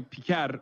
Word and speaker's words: Piker: It's normally Piker, but still, like, it's pretty funny that he's going out of his way to deliberately mispronounce it, which I love.